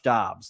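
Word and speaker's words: Dobbs: Yeah, Josh Dobs, not DS. I knew it was wrong when it came out of my mouth. He made Dobs look good.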